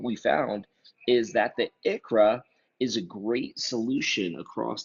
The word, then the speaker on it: ICHRA: The ICHRA, pronounced ICHRA, is an individual coverage health reimbursement arrangement.